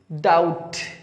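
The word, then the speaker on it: doubt: और एक और इसका प्रोनाउंसिएशन है वो भी राइट माना जाता है, आ, ओनली आ, आ, आओ, डाउट, बी हमेशा टी के साथ साइलेंट होता है, डाउट, माउथ, माउथ, नाउ, हाउ, अबाउट, around.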